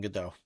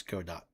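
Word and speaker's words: Godot: Uh yeah, this is uh I am making this game in GDAU. Yep. Or go dot. Sorry. If you want the proper pronunciation, it's go dot.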